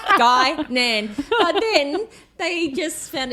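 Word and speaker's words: Guinan: Gynan. I got you end up getting at one point. Guillian the chocolate uh resulted in Billy writing it uh phonetically. guy Nan.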